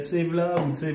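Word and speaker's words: Ziwala: Eux, ils disent Zivala. Z-I-W-A-L-A. Je peux te les plaire. Z'y va là ou z'y va pas là? Et quand ils le prononcent, c'est Tsevla ou truc.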